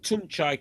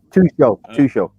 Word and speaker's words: Tuchel: This Tunchai character's got Chelsea playing. Tuchel.